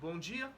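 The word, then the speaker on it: bom dia: let's just focus on bone Gia bone Gia boom boom boom boom doesn't close right bone Gia Gia bungia so bonjia is good morning right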